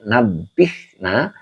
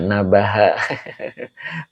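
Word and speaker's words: نَبِّهْنَا: jadi Ma'ul Bih jadi nabbihna engkau Sadarkan Kami boleh engkau ingatkanlah kami Oke begitu ya widawardardah nabaha bukan Nab nabaha bukan ya Mbak Wida ya Jadi dibacanya nabbih nah begitu ya jadi engkau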